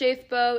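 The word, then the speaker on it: Schafbuch: It's S C H A F B U C H, which is pronounced Shaithbo. It doesn't look like it.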